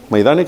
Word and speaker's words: Majdanek: Majdanek, así se pronuncia.